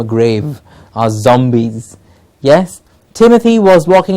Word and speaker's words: Timothy: roses Timothy please remove not tamati it's Timur Timothy an English name for